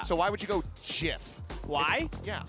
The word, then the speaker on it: GIF: So why would you go GIF? Why? Yeah. Because sometimes G can be pronounced like a J. You don't say graphics, giraffics.